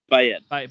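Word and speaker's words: Baaeed: And how do you pronounce Bayed? Bayed? Bayed? Yes. Is it Eid or Ed? Bayed.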